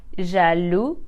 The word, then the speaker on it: jaloux: we will replace the X with s e jalu Angelus jealous the egg is silent for the masculine because it is a